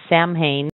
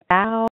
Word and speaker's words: Samhain: This time I saw it, I thought it was Samhain, but it's nothing like that. It's actually Samhain.